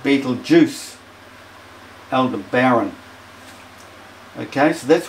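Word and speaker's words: Betelgeuse: pronounce it ryal serus Beetle geese pronounced Beetle Juice Elder Baron okay so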